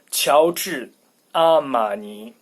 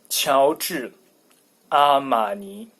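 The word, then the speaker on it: 乔治阿玛尼: Well, in Chinese it should be 乔治阿玛尼. 乔治阿玛尼.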